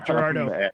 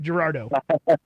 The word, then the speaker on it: Girardeau: event in Cape Gerardo I think it's pronounced Gerardo it's Missouri we butcher French things I'm sorry but that you're right Gerardo fantastic and it's I'll